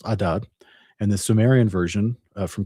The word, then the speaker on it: Adad: It's Akkadian is pronounced Adad, and the Sumerian version from Chaldea is Iskor.